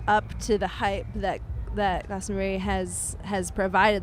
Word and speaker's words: Glastonbury: We've decided on Glastonbury, like the cheese.